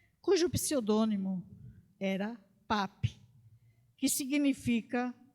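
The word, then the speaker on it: Papus: vilã some em crochê e cujo pseudônimo era pap que significa o médico da primeira hora temos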